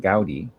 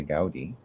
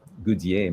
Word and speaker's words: Goodier: Well, if it was English, we would just pronounce it Gaudi. He's from Ontario. So I think I would just say Gaudi. But it probably comes from a French name, Goudier, maybe in the original French, like depending on how far back.